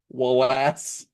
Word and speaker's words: Walas: who directed, his name's Chris Wallace, but not spelled like one would think you would spell Wallace. It's Walas, Wallace.